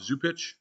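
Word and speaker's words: Zupcic: um so I don't know maybe zupix Bob zupich that's how you say his name I do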